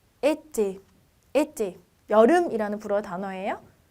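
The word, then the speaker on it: été: 액센트가 있는 경우에 약간 입이 닫힌 상태의 에로 발음해서 에떼, 여름이라는 불어 단어예요.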